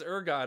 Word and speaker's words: ergot: Like, it's one thing if it's just, I mean, I got to explain ergot, which I'm glad I did because you guys